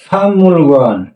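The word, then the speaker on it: 박물관: আমাদের উচ্চারণ কি হবে? ফামুল গোয়ান। হ্যাঁ, এই ফাং মূল গোয়ান, ফাং ফাংমুল গোয়ান।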